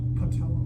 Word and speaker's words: patella: It rhymes with Nutella. Yes. I forgot. That's okay. Anybody else? I'll give you a hint, it starts with an P. Patella.